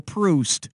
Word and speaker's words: Proust: things past was Marcel proust as in when I'm Juiced and need a boost to get Goose I